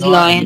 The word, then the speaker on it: lion: You are You are as brave brave as as lion. lion. You are as brave. अच्छा, पता है आपको, इसे लोयन नहीं कहते हैं, सही उच्चारण है लायन।